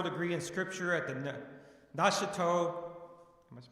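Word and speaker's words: Nashotah: Paul, Minnesota, and is completing a doctoral degree in Scripture at the Neuchâtel, am I pronouncing that correctly? Yes, Neuchâtel, Neuchâtel House Theological Seminary in Delafield, Wisconsin, as well as a Doctor of Education from the University of St.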